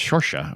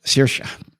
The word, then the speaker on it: Saoirse: Where Sarahazi is pronounced Shorsha or something like that. Saoirse.